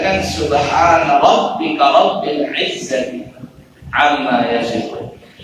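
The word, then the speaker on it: سبحان ربك: Penutup doa itu bacanya kan subhana rabbika rabbil izzati amma yasifun. Kadang dia bacanya salah, subhanaka rabbika subhanaka rabbika rabbil izzati amma yasifun.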